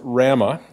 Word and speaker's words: WRAMA: WRAMA, pronounced RAMA, is a not-for-profit association